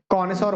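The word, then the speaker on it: connoisseur: अच्छा नॉलेज हो तो उसको हम बोलते हैं कनसर बोलते हैं क्या बोलते हैं इसको कनसर ठीक है स्पेलिंग याद रखना ये जो इसकी स्पेलिंग है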